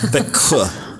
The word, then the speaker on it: Växjö: Where you guys seeing a K there? Where do you see a K? The the X Växjö. I don't know. Växjö. Växjö. There's no K in this, you guys. It's spelled v a x j o.